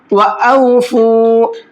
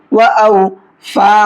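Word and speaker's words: وَأَوْفُوا: व औफू, इस लफ्ज़ की भी हिज्जे कर लेते हैं। वाव ज़बर व, हमज़ा वाव ज़बर औ, व औ, फा वाव पेश फू, व औफू।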